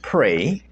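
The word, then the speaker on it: prae: Latin word uh pray which is spelled p-r-a-e pronounced pray and that means before and cognition which is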